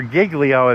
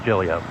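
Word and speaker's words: Giglio: or Gigglio if you want to do the southern version. But yeah. Okay. The New York version, the proper Italian pronunciation or Italian Greek pronunciation is Gillio.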